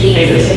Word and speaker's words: Cadiz: Continue that below grade along, and please correct my pronunciation, I butchered this street name, Cadiz, is that correct? C-A-D-I-Z? Cadiz, thank you.